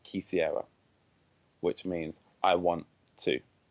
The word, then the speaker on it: quisiera: you do know so quisiera a key over Sierra Leone that's what I'm experimenting